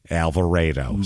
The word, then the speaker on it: Alvarado: So he coaches at it's spelled Alvarado, Alvarado, but it's said apparently according to this Alvarado.